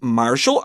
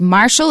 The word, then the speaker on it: martial: need any experience in martial arts to enjoy it pay attention to the word Marshal it's got a t in it but we pronounce it sh as in the word motion martial arts and a lot